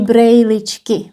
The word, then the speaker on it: brýličky: So brýle, but we don't say brýličky that much, we say brejličky, brejličky.